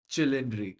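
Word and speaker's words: Cilindri: the pastas piz p P but H it's cindry sorry Italians the Ferrari 12 cindry but like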